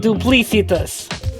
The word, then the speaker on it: duplicitous: brandon i have to tell you something it's pronounced duplicitous what no really i've only ever seen